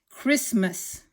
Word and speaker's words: Christmas: planned per yes and we don't say the T very much it's Chris mess Christmas Christmas okay now if you look